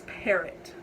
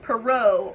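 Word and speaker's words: Parrott: So like normally it's like parrot, like the bird, but right, and then it has like an extra T at the end. And like people always like pronounce it like Perot or Perrot or like just different stuff, and it just bothers me so much.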